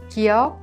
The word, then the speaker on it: 기역: 기역 is not a strong K sound or a voiced G sound, but pronounced in a soft K sound in an initial letter.